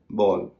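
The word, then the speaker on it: ball: सहारे बताता हूं जैसे बी ए डबल एल बल सिंपल है ए के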